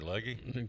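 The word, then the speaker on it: Legge: Leggy. Katherine Le. Yeah, leg. It's leg. E. Silent.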